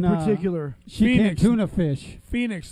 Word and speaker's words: Phoenix: Phoenix, the O is silent. Yeah. Hey, Jeff. I thought it was Pahonix.